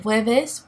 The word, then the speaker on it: jueves: El jueves, now you see that the J-U-E is pronounced very close to a W sound. El jueves becomes los jueves, and el viernes becomes los viernes.